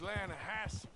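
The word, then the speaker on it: Lannahechee: I rode down to the Lana Hetchy River I caught some beautiful steelhead trout runs right near here yeah for this pronounced Lana Hass why is everything in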